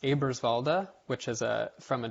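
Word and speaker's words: Eberswalde: like um this delta in particular uh is pronounced abrasvalda which is a from a german location and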